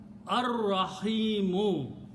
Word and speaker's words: ar-rahimu: And when you pronounce, you don't pronounce lam, ar-rahimu, the intensity of the mercy, intensity of the rahmah.